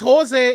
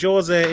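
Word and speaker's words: José: it is it is it's jose in spain and jose in portugal or brazil that's correct it is yeah it is because it's pronounced them differently in the spanish language it's with a j but it's a h in portuguese that's fact but how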